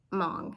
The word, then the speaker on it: Hmong: I looked up Hmong, and the H is silent, pretty sure.